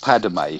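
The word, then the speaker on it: Padmé: We could get force choked Padme, who would be like a Yoda. Padme, not Padme. It's Padme, not Padme. She's not a Native American. 2 syllables.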